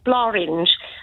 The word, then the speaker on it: Blorenge: So I think with the Welsh win tonight, because it's pronounced Blorange and it rhymes with orange.